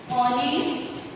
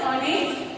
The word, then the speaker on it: honest: Here, honest and honorable. No doubt it has started from H, but while pronouncing we are using the vowel sound.